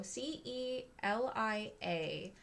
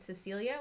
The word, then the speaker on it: Celia: My name is spelled Celia, so Celia. People do confuse it with Cecilia, which is a more common name.